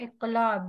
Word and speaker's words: इक़लाब: ठीक है, इक़लाब, ये कौफ है, इसको मोटा प्रोनाउंस करेंगे।